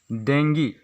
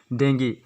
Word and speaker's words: dengue: फिर 11 नंबर पर आता है हम लोग का वर्ड डेंगी, जिसका स्पेलिंग होता है DENGUE। इसे इंग्लिश पर लिखा जा सकता है DEN+GEE, जिसे डेंगी, ये भी एक वन काइंड ऑफ डिजीज़ है।